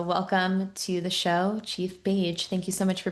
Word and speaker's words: Bage: Your last name, Paige, rhymes with Paige, so it's likeity.